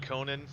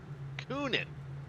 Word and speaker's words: Coonan: with Burrell right behind Conan. How did I pronounce that right? Coonan. Yeah, Two O's. Oh, yeah, it's true. I was thinking either Conan the Barbarian or, Conan O'Brien.